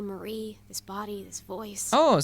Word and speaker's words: Marie: Aunque pues por no mucho, es nada más la acentuación.